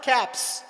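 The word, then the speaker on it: caps: you make them plural सीपी एस द एस is pronounced एज स कैप्स एंड इफ यू ड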